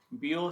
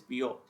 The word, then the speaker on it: Biot: Today we'll be seeing some important problems on the topic bio sour law. Okay, here T is silent. You have to call this as BO not Bio.